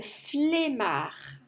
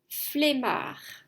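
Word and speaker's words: flemmard: prononciation ça se prononce flmar c'est pas comme femme c'est flemard j'ai la flemme ça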